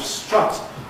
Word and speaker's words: strut: But in the north of England, because the vowels of strut and foot are not distinguished, strut foot, you've got only five short vowels in the system.